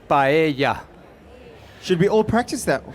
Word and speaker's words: paella: a vegan paella okay it is pronounced paella should we all practice